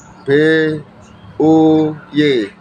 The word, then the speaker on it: buy: Membeli, kalau kami ucapkan dalam bahasa Inggris adalah ditulis B U Y, bui ya, ditulis bui, B U Y, tapi diucapkan buy. Apa? Diucapkan buy, artinya membeli.